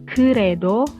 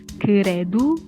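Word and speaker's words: 그래도: namun Terus yang keempat ada keredo lebih hanya orang Korea bacanya kredu yang artinya adalah tetap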